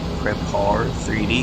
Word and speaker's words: Prepar3D: You guys are gonna hear me call it Prepar3D because that's how it's spelled.